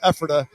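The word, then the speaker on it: Ephrata: Elijah is from right down the street in Epherta. I might not be pronouncing that right.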